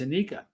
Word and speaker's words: Anika: It's Anika. I've been saying your name wrong.